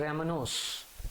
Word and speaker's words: rhamnose: इसी प्रकार एक लिखा है रेमनोस, स्पेलिंग बोलता हूँ उसकी मैं, NCERT में RHAMNOSE, रैमनोस, C6H12O5, C6H12O5, this is RAHM नोस।